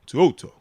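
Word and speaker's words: To'oTo'o: There we go. 202. Yeah, that works. That's how you say it.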